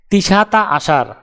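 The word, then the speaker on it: تسعة عشر: আরবি ক্রমিক সংখ্যা 19 দেখতে এরকম, উচ্চারণ হবে তিসাতা আশার।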